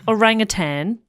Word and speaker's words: orangutan: all okay great um orangutan that sounds silly yeah rang attained but you don't go hard G you just kind of soften the end you know yes sir